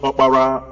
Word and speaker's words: Opara: The name Oprah, as pronounced by Americans today after the woman known as Winfrey Oprah, is also a name among the Igbos pronounced Opara or Opara, meaning the first son of a family.